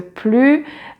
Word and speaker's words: plus: an adverb following the plus in comparative sentences, you do not pronounce the final S, but yet when you have a vowel sound, you pronounce it like a Z.